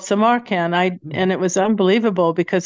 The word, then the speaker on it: Samarkand: The name of the town that you set the book in is called Samarkand. How do you say it? Samarkand.